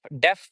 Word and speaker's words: deaf: So, there is a word called deaf. Def is uh pronunciated both like both in uh American and in British English the same way in one syllable and we say that